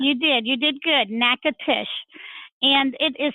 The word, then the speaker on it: Natchitoches: the spelling bees hey y'all versus Idol but nekkid ish give everybody the lowdown on em did I pronounce it correctly number one you did you did good knack at ish and it is spelled in a t CH i t o